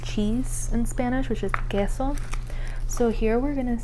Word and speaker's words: queso: talked about earlier where when you have the u followed by the e, um you don't pronounce that u.